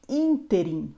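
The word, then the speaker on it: ínterim: são palavras paroxítonas e por último temos uma palavra proparoxítona neste interim ou seja neste meio tempo essa palavra entre uma palavra proparoxítona ou seja a antepenúltima sílaba é a mais forte Lembrando que todas as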